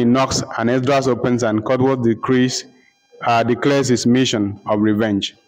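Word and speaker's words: Cutwolfe: Catwolf is spelled C-U-T-W-O-L-F-E, Catwolf.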